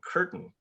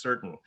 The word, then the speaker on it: certain: And to tell you where I was as a reader at that point, I pronounced the word certain curtain, right? And my parents said actually it's pronounced certain, and So really, Peanuts